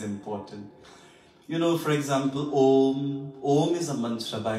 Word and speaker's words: Om: The real way to chant Om is it have U and Ma. U and Ma. This is the way you chant Om.